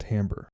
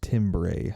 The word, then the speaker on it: timbre: an example our next element is called timbre which is not pronounced timbre if you remember from my last video i